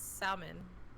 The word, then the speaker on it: salmon: Wait, how do you pronounce salmon? Salmon. Salmon? Salmon. I don't use the L in salmon.